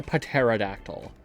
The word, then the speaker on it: pterodactyl: Max, why pterodactyl? How do you know? It's... If you ever want to have more fun with life, just pronounce the P in pterodactyl.